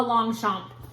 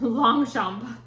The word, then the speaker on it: Longchamp: Also, in a super picked over bin, a Longchamp. And from what I gather, it is Can you see the name of that? Longchamp.